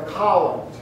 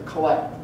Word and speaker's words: collect: name is Tim you it's called the col or another way to pronounce it is the collect not the collection but the column and